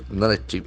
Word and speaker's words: narrative: a dangerous narrative dangerous narrative n a r r a t i v e so narrative is a very interesting noun narrative narrative that's for the first narrative narrative narrative a